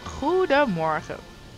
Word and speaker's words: goedemorgen: Yep, goedemorgen. That's it. It is pronounced like that. No, yeah. You went out and googled that. That's hilarious. Yeah, goedemorgen. Goed, just stretched out a little bit. Like if you're in a really good mood, you just say, it's like good morning.